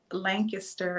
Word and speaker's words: Lancaster: up in pennsylvania uh lancaster is what the locals call it if you're not from lancaster you call it lancaster because that's how it is spelled so um i did